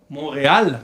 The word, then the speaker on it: Montréal: Montréal, se pronuncia la L.